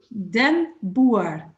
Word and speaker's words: den Boer: your help can you help ourselves with the pronunciation of your name yes it is then Bui oh it's like a farmer in the dirt